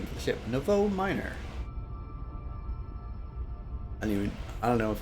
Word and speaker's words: Nouveau: Is that how you pronounce it? Nouveau, yeah. Nouveau. It's French.